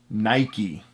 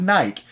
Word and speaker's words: Nike: owner himself phil knight of nike says it's pronounced nike it's not nike the owner of nike the creator the ceo